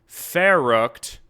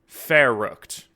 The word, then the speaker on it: Verrückt: We're doing Zombie Verruckt to this time and it's actually pronounced Verruckt. Verruckt.